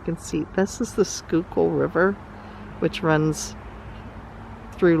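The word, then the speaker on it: Schuylkill: down here you can see this is the skookul river which runs through like Philly down that direction it looks like it's it was spelled it's pronounced skookul but there's a highway called the skookul highway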